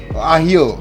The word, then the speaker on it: ajillo: Pollo al ajillo. Oh, bacanya pollo. Ya, ini Pollo. bahasa Spanyol ya. Pollo al ajillo. Ya, artinya ayam Oke. memasak dengan bawang putih. Oh, al ajillo it means garlic. Ajillo. Ahio.